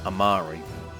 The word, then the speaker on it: Amiri: So we're gonna rage with Amiri, sorry. I think she actually pronounces her name Amari, because you just hear people talk later.